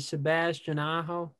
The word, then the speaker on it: Sebastian Aho: how do you say his name is it sebastian aho there you go there we go um he's